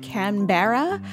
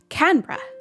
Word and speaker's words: Canberra: americans and english speakers looks like canberra which would be a